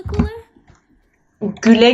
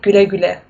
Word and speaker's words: güle güle: Is it like güle güle? Güle güle. Güle güle. Isn't that? Yeah, it's like almost in German you have this U with the umlaut. It's pronounced the same way, güle güle.